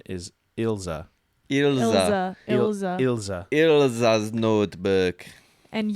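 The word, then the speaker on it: Ilse: know it's um oh I looked up German pronunciation of it because most of the names in the show are German yeah and most typically German pronunciation is ilza Ila Ila Ila's notebook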